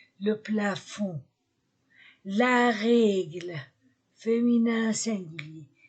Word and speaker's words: plafond: sac masculin singulier le plafond masculin singulier je ne prononce pas le D le plafond la règle féminin un